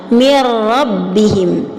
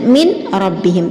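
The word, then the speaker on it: من ربهم: Contoh, mir rabbihim. Dengan menjaga, tadi sudah dijelaskan, summa karrirannah, dengan menjaga sifat takrir dari huruf ra. Mir rabbihim, tidak dibaca dengan min rabbihim, tidak dibaca secara idhar, tidak juga secara mendengung.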